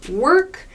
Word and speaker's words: work: are more similar but in American English work there's a clear R sound and this o is pronounced her work work walk21 to walk